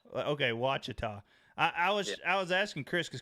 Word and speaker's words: Ouachita: Lake Ouachita. Okay, Ouachita. I was asking Chris because Chris normally can pronounce some things a lot better.